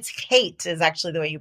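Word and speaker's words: חטא: It's hate is actually the way you pronounce it.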